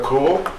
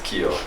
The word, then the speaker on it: Keel: Okay, next we have Tyler Cool. Did I pronounce it right? Oh, I like how you said it, but it's Keel.